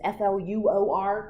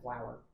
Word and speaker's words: fluorine: Okay, and when you do beryllium, remember fluorine is Fluor, because if you put an OUR, it's flour.